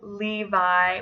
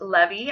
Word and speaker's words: Levi: of the year 2014 it was the name Levi which is a Hebrew name that means joined this thing can also be pronounced levy I do have a friend from Israel whose